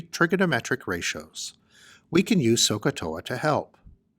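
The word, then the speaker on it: SOH CAH TOA: to remember how these ratios are defined we pronounce this as sohcahtoa when solving problems involving trigonometry we involve the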